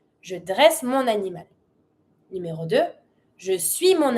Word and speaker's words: mon animal: Starts with the vowel. You link it with your N. Je dresse mon animal.